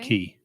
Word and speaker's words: cay: Key. What did you say? Key. Like KEY. It's No, pronounced spelled it how? CAY. Oh, key. It's K. pronounced key, not K.